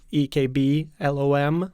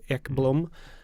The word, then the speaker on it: Ekblom: speaking, it's always like I have to spell it for them, EKBLOM, like Ekblom, and they're like, still don't get it. So yeah, It's Ekblom.